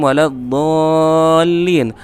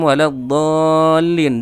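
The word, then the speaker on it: ولا الضالين: mendengungkan Khairil maghdubi alaihim yang seharusnya itu kan sukun yang dibaca ghairiman ghairil maghdubi alaihim wa lagholin tapi di situ Habib Umar membacanya ghairil maghdubi alaihim waladzolin dan itu berapa kali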